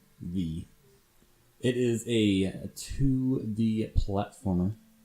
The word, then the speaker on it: VVVVVV: the 6 B's and it just pronounced V it is a 2d